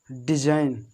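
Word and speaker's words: design: इसको रैन, साइन, डिजाइन, डिजाइन माने पता होना चाहिए, डिजाइन माने बनावट होता है। तो देखो यहाँ पर जी जो हो रहा है, जी कैसे हो रहा है, बिल्कुल साइलेंट।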